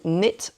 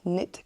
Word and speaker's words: knit: un très bon très bonne application qui s'appelle Net Companion. Regardez, c'est le petit qui est icône qui est là. Est-ce que ça marche ? Oui, vous voyez ce petit icône Net Companion ici là.